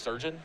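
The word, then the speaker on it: Chirurgeon: pronounce it is it it literally just pronounced sergeon it's like surgeon but it's is it like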